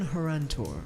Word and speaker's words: Horantor: Toscan Horantor. Toscan. Toscan. How do you spell that?